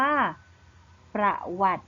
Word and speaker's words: ประวัติ: อยู่ บอล ต่อ เต่า แต่ เรา จะ ไม่ อ่าน ออก เสียง สระ อิ ใช่ ไหม คะ ดัง นั้น คำ นี้ จึง อ่าน ได้ ว่า ประวัติ นั้น เอง ค่ะ ม.ค